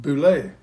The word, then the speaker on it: Bule: Spelled B-U-L-E, but it's pronounced Boulet.